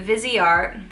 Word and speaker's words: Viseart: i also got a vizier which that's how you say it because i looked it up on google it's like vizio vizia it's like how you say it in french so i thought